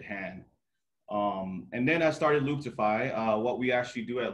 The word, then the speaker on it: Looptify: He's the CEO of Looptify. That's how you pronounce it?